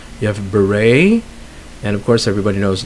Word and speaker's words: beret: Next we have where the T is not pronounced, like depot. It's a silent T. You have beret, and of course everybody knows listen.